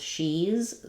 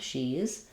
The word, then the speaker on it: she's: She is becomes she's. So again, not two syllables, just one with the tense E sound, she's.